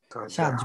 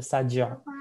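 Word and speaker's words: سجع: বলা হয়, বালাগা টার্মে সাজ বলা হয়, ঠিক আছে? সাজ্জা বা সাজ্জা, একদম যদি প্রপার প্রোনাউন্সিয়েশন করতে চান তাহলে এটা হবে সাজ্জা, আর নাইলে এটা সাজ, ঠিক আছে?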